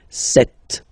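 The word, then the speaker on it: sept: Then here, remember, P is not pronounced. Okay, it doesn't exist. So you got this set sound. Set, set. Okay.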